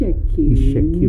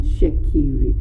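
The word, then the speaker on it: Itsekiri: Ishekiri, not Shekiri. Because you know a lot of people pronounce this very wrongly, and I'm probably one of those as well, because I call it Shekiri. But Yeah. Ishekiri. Ishekiri. Okay. because that E is very, very important.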